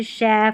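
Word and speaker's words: chef: ये जो है कुछ फ्रेंच मूल वाले शब्द है ना, वहाँ पर हम CH को श पढ़ेंगे, जैसे देखिए शेफ, मशीन और ब्रोशर, यहाँ पर देखिए CH है ना, इसको श पढ़ना है, इन्हीं स्पेलिंग में, याद कर ले इनको।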